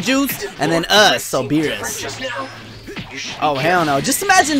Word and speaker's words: Beerus: I used to say Beerus. I know. I know. I was wrong. That was my fault. But now I'm saying it's beer. Us. It's like beer.